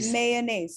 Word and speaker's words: mayonnaise: two dots and then there is a short sound this word is mayonnaise now uh what your